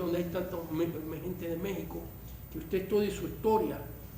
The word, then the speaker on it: México: Por eso la palabra México no se escribe con J porque la pronunciación con X debería ser México, como dicen los gringos. México. Por eso los gringos dicen México, porque es con X.